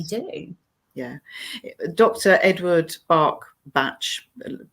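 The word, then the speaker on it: Bach: everything that they do yeah dr edward bark batch pronunciation however people prefer bark match um who rediscovered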